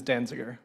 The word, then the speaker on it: Danziger: right well done the pronunciation of my last name is danziger no uh so the name